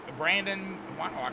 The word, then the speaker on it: Brandon: I keep calling him Braden. And I don't know why. It's Brandon. It's spelled different than mine, my middle name, but it's the same thing.